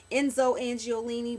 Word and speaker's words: Enzo Angiolini: um Enzo angiolini I never know how to pronounce that I think it's Enzo Enzo angiolini but you can find Enzo and like Macy's